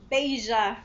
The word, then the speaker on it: Beija-Flor: Oh, I forgot to ask your pronunciation. So here goes. Beija-Flor. Am I close? Beija-Flor.